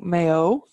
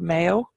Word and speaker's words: Mayo: gonna go over to Mayo you'll hear this called Mayo or Mayo and either is correct again it depends one side of the Shannon you were born on I think at